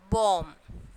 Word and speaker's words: bomb: So here B is silent, and then climb, again B is silent, and then bomb, B is silent.